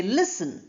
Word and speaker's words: listen: Then listen. We don't say listen. We say listen. L e s and n. That's how it's pronounced.